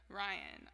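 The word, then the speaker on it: Ryahn: oh like I know that person too but Ryan is spelled r-y-a-h-n she's just a really good R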